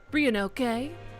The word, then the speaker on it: Ryunosuke: I don't pronounce the Sioux. Ryunosuke, like that.